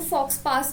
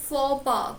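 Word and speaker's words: faux pas: ये वर्ड तो इस बार आया भी हुआ था, इसको हम बहुत बच्चे इसको फॉक्स पास बोल रहे हैं. नहीं बेटा, इसका प्रोनाउंसिएशन इज फॉपा, कुछ इस तरीके से.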